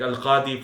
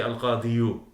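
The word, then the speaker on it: القاضي: Okay, like al-qadi, for example. You don't say al-qadiyu. Al-qadiyi. You don't do that because the ya having a dhamma is heavy on the tongue, particularly if the preceding letter has a kasra.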